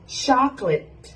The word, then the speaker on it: chocolate: cake อัน นี้ ค่ะ Chocolate Chocolate ไม่ ใช่ ช็อกโกแลต แต่ เป็น ช็อกแลต นะ คะ ลต 2 พยางค์ เท่า นั้น นะ คะ แล้ว